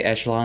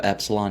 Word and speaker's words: echelon: Tyrannosaurus was a big guy, 40 feet long, still in the upper echelon, yes, I say echelon instead of epsilon now, I learned how to say it, of theropod dinosaurs, even as more get discovered.